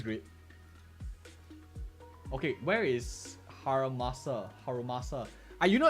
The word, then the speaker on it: Harumasa: Okay, where is Harumasa? You know, at first I keep pronouncing his name wrong. I keep calling him like Haramusa.